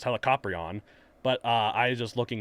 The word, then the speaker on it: Helicoprion: the shark with the spiral mouth uh it's pronounced helicoprion but uh i just looking as like throughout